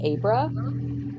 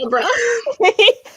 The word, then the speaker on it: Abra: thinking freaking abracadabra, so I kept calling her Abra. That's how they pronounce it in the audiobook.